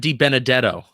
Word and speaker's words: DiBenedetto: It's Matt DiBenedetto.